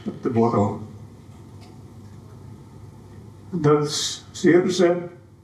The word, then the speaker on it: Circe: Then Circe, Americans say Siles, and Fincraft were built in Hanko.